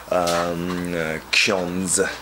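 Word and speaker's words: Xiądz: And now we got like this EP, like limited edition EP, Ksiądz. That's how we pronounce it. It's a Polish word that's available during these dates now.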